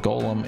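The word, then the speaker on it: GOLM: much to his surprise this ends up being pronounced like Golem anyway on a side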